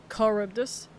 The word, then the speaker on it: Charybdis: You don't pronounce the C. Charybdis.